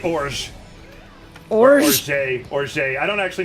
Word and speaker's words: orge: In Francais, that is ogre. Ogre? It's actually orge.